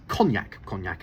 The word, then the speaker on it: Cognac: Charlie November Alpha, and the place where that VOR is Cognac as in the drink.